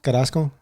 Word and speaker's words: Carrasco: how do you say your last name carrasco carrasco carrasco he's the whitest guy i am